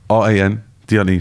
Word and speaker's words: Randle: Oh, how would I pronounce it? R-A-N, D-L-E, so Randle.